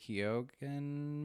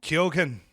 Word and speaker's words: Keoghan: a February Christopher Abbott, Barry Keoghan movie. How is it you say his name again? Kyogen.